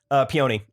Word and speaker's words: peony: what got was the plant that you mispronounced? oh, dang it. Peony.